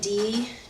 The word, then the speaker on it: Django: And it's spelled D-J-A-N-G-O. And there's a great scene in the trailer. The actor's sitting in the bar, and he said, my name's Django. The D is silent.